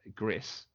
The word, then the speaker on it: Gris: our how it's pronounced the developers have confirmed it is Gris but they all say Greece yeah so Greece is